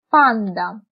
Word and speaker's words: πάντα: Αλλά όταν είναι στη μέση της λέξης, διαβάζεται ν-ντ. Όπως λέμε πάντα.